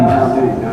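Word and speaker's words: زينبُ: Zainabu. Zainabu. Fati. Fatimatu. Nah, nama muannas itu, nama perempuan itu tidak boleh ditanwinkan bacanya ketika kita baca.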